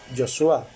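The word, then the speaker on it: Yeshua: que nació en Belén, y se pronuncia en nuestro idioma Jesús y en el idioma hebreo Yoshua, yo soy.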